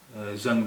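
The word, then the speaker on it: ज़ंग: लोहे में जो जंग लग जाती है उसे कहते हैं, उसे जंग नहीं कहते हैं, जंग कहते हैं। वो जंग होती है, रस्ट, मोर्चा, जंग। तो ये इसका सही उच्चारण, सही प्रोनाउंसिएशन है जंग।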